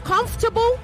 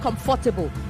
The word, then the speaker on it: comfortable: It is comfortable, not comfortable. Comfortable, okay? You swallow the for. You sort of absorb it, okay?